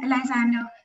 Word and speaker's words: Lysandre: sure there will be many questions uh hi elizando this is swaraji i hope i pronounced your name right yeah it's perfect uh